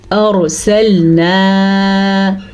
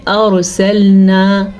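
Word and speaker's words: أرسلنا: باریک پڑی جائے گی۔ ارسلنا، اچھا جی یہاں پہ بھی یہ غلطی کی جاتی ہے کہ اکثر لوگ پڑھتے ہیں ارسلنا، الف مدہ نہیں پڑھتے، تو یہاں پہ الف مدہ ادا کرنا ضروری ہے۔ ہم اس کو پڑھیں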